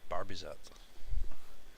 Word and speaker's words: Barbezat: I'm reliably informed, I believe by the coach, it's pronounced Barbezat.